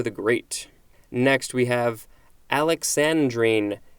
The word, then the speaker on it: alexandrine: great next we have alexandrine a-l-e-x-a-n-d-r-i-n-e it can also be pronounced alexandrine or alexandrine this is a noun